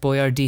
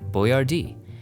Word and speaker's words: Boyardee: Here we find the crypt of Chef Boyardee himself, Hector Boyardee.